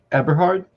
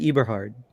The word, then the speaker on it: Eberhard: can't really see yeah it's aberhard i i would have said eberhard me too you were